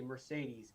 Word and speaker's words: Mercedes: 400 in that category mercedes love that word because there's three e's pronounced differently it's a great fun